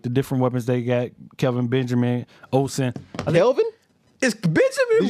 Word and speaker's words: Kelvin Benjamin: different weapons they got, Kelvin Benjamin, Olsen. Kelvin? Is Did Benjamin you say really Kevin? that good? It's Kelvin Benjamin. It's Kelvin. I thought you said Kevin. Okay, no, Kelvin.